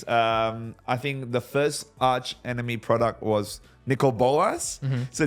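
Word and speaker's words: Archenemy: of and I always it's Arch right Arch Enemy yeah yeah cuz I always say AR enemy I'm like Nigel it's not how you pronounce it I'm Arch Enemy AR enemy Arch enemies returning in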